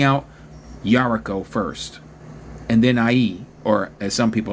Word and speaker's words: Ai: promised land, taking out Jericho first, and then Ai, or as some people like to pronounce it, Ai.